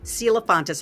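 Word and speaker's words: Celaphontus: It's spelled C E L A P H O N T U S. Silfontis.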